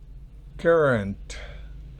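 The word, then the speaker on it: currant: Current significa pasa, o es decir, una uva sin semilla, pasa de Corinto. También tenemos current, que se pronuncia igual que el anterior, significa simplemente corriente.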